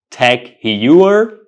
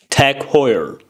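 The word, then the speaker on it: TAG Heuer: luxurious and good-look watches do you pronounce this word techer it's not pronounced techer the correct pronunciation is Tech Hoyer Tech Hoyer Tech Hoyer so the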